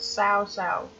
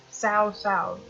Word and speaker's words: Cao Cao: to be talking about sow sow yes it's how you pronounce his name you might count out south-south and there's multiple sources